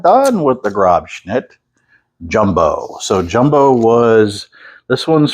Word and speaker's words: Grobschnitt: Say it with me, Grobschnitt. Make sure you pronounce it correctly.